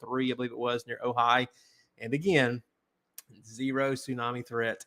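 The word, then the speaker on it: Ojai: me with this pronunciation I think ohigh ohigh that's what I thought ohigh California looks like oi but it's ohigh yeah and um the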